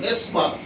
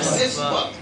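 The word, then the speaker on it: نسبت: আমাদের দরকার হলো নিসবাত। বলেন যে উচ্চারণ করি কি শব্দ? নিসবাত। দন্তন্বয় রস্যি দন্তুস্ব বয়াকার ত, কি হবে? নিসবাত। আরবি শব্দটা হলো নুন সিন জবর নাস আর বা লম্বা তা জবর বা, নিসবাত।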